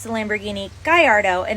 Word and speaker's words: Gallardo: Italian automotive manufacturer but the model name Gallardo is actually named after something Spanish which is why it's Gallardo and not the Italian Gallardo like my little Italian